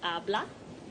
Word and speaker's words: habla: Speaks, habla. a silent H.